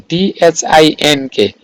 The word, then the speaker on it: think: is what I think oh pronouncing there is a thing t-h-i-n-k not t s i n there is t s i n k k is missed what I think what